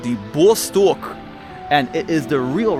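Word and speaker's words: Восток: Excuse my pronunciation, guys, but this is called the Vostok, and it is the real rocket. So right there, it says B-O-C-T-O-K. So I guess the C in Cyrillic is pronounced S, but if you read that in English, it just says Boktok.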